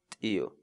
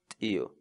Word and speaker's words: t'iyu: So our word of the day for today is Tio. Tio. Tio.